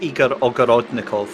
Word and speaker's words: Igor Ogorodnikov: actually perfecting his name so it's Igor ogorodnikov there you go that's how you say it good right yeah I